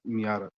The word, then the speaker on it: Miyata: Oh my goodness, how do you pronounce his name again, Danny? I apologize. Ritomo Miata? Uh, is it Miyama or Miata? Miata.